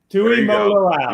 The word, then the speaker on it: Tuimoloau: I was going to say, I was going to have Bill pronounce his last name because he does it so perfectly. Tuimoloau. Tuimoloau.